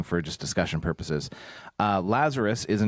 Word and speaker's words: Lazarus: Uh Lazarus is how we would pronounce it in English.